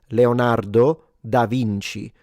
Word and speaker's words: Leonardo da Vinci: Why would I use classical Latin for a This is an Italian name. So, it's Leonardo da Vinci. That's the Italian pronunciation, but it's an Italian name.